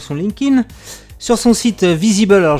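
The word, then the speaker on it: Vizeeble: LinkedIn, sur son site Visible. Alors, je vais épeler le nom parce que ça s'écrit pas comme ça se prononce.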